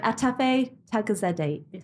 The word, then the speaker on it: Atefeh Taghizadeh: So welcome, let me say this, I'm going to preface it and say sorry, but Atefeh Taghizadeh, no, I said it wrong.